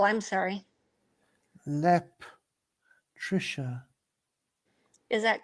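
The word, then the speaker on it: Leptirica: is that a p oh no I was pronouncing with an s an L I'm sorry LEP Trisha is that correct that's the way he has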